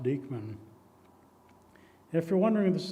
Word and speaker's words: Dyckman: And another prominent Westchester scout, Abraham Dyckman, uh Dyckman, but it really should be pronounced Dyckman.